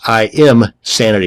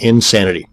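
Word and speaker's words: Imsanity: i pronounce that and another one is insanity that's im sanity not insanity both of these once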